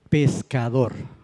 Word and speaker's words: pescado: ¿Cuál es la sílaba tónica correcta? La K, hablando en ese sonido, ¿verdad? El sonido K. Si fuera la última, ¿cómo se leería? Pescado. Si fuera la antepenúltima, la pez, diría pescado. Y no. Es la sílaba tónica, es la K, que es la penúltima sílaba de la palabra.